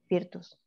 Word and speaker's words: virtus: deriva del latín virtual virtus perdón virtus y lo pronuncié mal porque la v se pronuncia u en latín Y huertos ustedes dirán